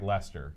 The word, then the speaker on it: Leicester: Now, how would you pronounce this, Aaron? This place here. Leicestershire. Oh, you're so close. It's just like Leicester the Unlikely.